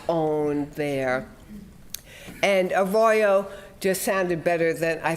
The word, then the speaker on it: Arroyo: think yeah but but yes a Royo and and I have asked Spanish speakers to uh repeat it to me and the RS are rolled and I can't do that it's a Spanish word I was just wondering